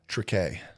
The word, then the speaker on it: Triquet: Trique. Nice. Like tree k.